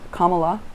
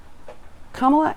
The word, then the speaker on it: Kamala: all learn how to say it right it's kamala and that's important because we want to be able to say her name accurately kamala and and joe biden very clearly said yesterday